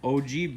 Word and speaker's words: ogee: These are both OG bits, and it's spelled OGEE, and that is the design right